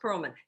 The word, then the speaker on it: Pearlman: I want to introduce you to Pereman. Pearlman, pronounced Pearlman, Pearlman.